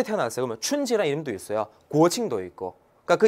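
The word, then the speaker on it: 国庆: 고칭.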